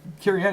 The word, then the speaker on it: caryatid: Somebody made a point of it being caryatid. I think it was on a Reddit thread about card pronunciation, and I was surprised. So I looked it up, and caryatid.